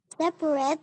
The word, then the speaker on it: separate: Nah, yang ini bacanya separate. Separate. Sekali lagi yuk. Separate the yolks from the whites. Yes. Ternyata selain silent L di sini ada juga yang ini. A-nya yang ini nggak bunyi. Ups, sulit. A yang ini deh yang nggak bunyi.